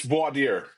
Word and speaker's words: voir dire: But then there's that when he gets Marisa Tomei to on the stand, there's that word voir dire.